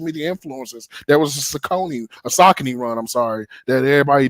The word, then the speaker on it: Saucony: He said, I know you know your stuff, but like, it's not Saucony. I was like, how do you say it? He was like, Saucony.